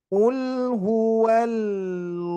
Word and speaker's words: قل هو الله: Qul huwallahu. Nah, jadi قل jangan هو sampai berhenti الله. ya. Jangan sampai berhenti qul huwal Allah. Nah, jangan sampai jadi Allah, Pak.